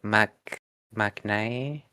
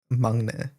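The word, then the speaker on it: 막내: Mangne. Mang. Okay. Where's the G? It's a kiok, which is like a G's. It's in between like a G and a K sound.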